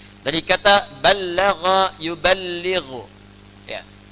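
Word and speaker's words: بَلَّغَ: Dari kata ballagha yuballighu. Ya. Ballagha dibacanya, bukan bahasa Sunda balaga, ya.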